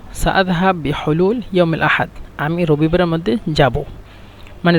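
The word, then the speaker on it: يوم الأحد: মুমকিন বারুহ ইয়াউমুল হাদ, এখানে ইয়াউমুল আহাদ, ইয়াউমুল আহাদ এখানে উচ্চারণ করে আঞ্চলিক ভাষা ইয়াউমুল হাদ, মানে এই যে আ শব্দটা ব্যবহার করে না, ইয়াউমুল হাদ ডাইরেক্ট ইয়াউমুল হাদ, এভাবে।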